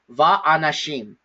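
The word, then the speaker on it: וַאֲנָשִׁים: So whatever that vowel is within the reduced vowel, the conjunction vav takes that vowel. Okay? And so here, the way that we pronounce it is va'anashim.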